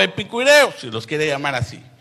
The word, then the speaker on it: epicúreos: Y algunos filósofos de los epicureos, o epicúreos, no, epicureos creo que es, por el acento en la U.